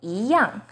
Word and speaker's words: 一样: 一 as in number 1 is pronounced as 一, but in 一样, it becomes the second tone.